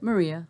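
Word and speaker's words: Marija: Slavic SL okay Yugoslav and how do you pronounce it Maria you do so that J and that Slavic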